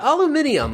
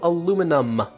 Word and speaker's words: aluminium: care okay anyway yeah aluminium apparently is um how you say it in most of the world but the united states is one of the few places that says nope it is still called aluminum there is no eye in